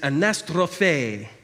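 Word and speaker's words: ἀναστροφή: Closest Greek parallel term in the New Testament is anastrophe. Also, that's how it's pronounced.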